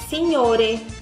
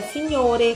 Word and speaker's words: signore: Agora, quando tiver uma palavra italiana que colocar o GN, é como se fosse o nosso NH. Então, se fala signore. Vocês entenderam? Tem o G e o N, só que a pronúncia é signore, como se fosse um N.